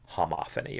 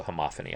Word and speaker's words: homophony: this, which is more homophony or homophony. That sounds funny to say it that way, so homophony, I think, is the better pronunciation.